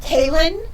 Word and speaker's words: Kahlon: pronunciation of my name, but I think that it's Kahlon. Is that right? Okay.